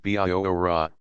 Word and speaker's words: Bihora: Bihora, Tehei called her, but he did not pronounce it according to English notions of spelling. Spelled Bihora, it sounded like Biora, with every syllable sharply emphasized.